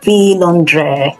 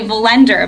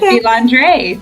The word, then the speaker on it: Vilendrer: Okay, because you pronounced it the authentic French way. It's a French last name, and that's the correct way of saying it. Although, most people say Vilendrer, but I was delighted you said Vilendrer.